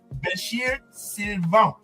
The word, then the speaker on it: Bechir Sylvain: Bechir Sylvain.